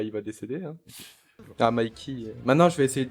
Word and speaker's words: Mikey: C'est vrai que la prononciation, je dis Mickey, mais c'est Mikey.